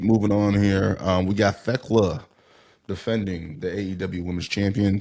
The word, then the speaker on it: Thekla: Yeah, it's Thekla. The H is silent.